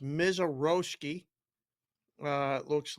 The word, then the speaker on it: Mazeroski: It's pronounced Mizaroski.